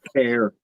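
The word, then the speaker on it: CAIR: Care. I don't know how to That's how you say it. Care even though it's Yeah. Yeah. It just sounds like care.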